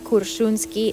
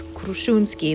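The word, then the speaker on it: Крушуна: a little bit off it's not kuruni it's kski the r comes first vup but that's okay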